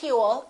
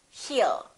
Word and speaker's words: he'll: you he will remember don't pronounce that w a lot of my students still tend to put little w and they say he will it's not hewl it's hill he'll he'll call you he'll talk